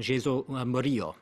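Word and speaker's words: Jesús Murillo: Mexico's Attorney General, correct me if my pronunciation is wrong, Jesus Murillo, right?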